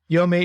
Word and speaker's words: Yomi: pronunciation as I said just pretend you're Japanese and you get it right all right here we